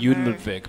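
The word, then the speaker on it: Jon Ludvig: Jun Ludwig, because he taught me how to pronounce that years ago when we played in some tournaments together.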